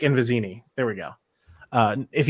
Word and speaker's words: Vizzini: or through uh yeah fazzini and then uh vizino uh i think i completely butchered those names um but fesic and vizzini there we go uh if you haven't learned